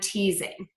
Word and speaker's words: teasing: movement is voicing so when you see again that letter s between two vowel sounds we're going to pronounce it as a z like in the words cousin reason and teasing so those are all